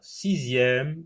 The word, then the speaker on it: sixième: Un boxeur, sixième, l'examen, un panier, le premier, délicieux. Dans le mot boxeur, la lettre X se prononce X. Sixième, X se prononce Z.